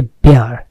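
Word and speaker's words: bare: বেয়ার, American উচ্চারণ হচ্ছে বেয়ার, নগ্ন, অনাবৃত, বিবস্ত্র, উন্মোচিত করা।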